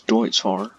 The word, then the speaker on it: Deutz Fahr: It's Deutz Fahr, just like that.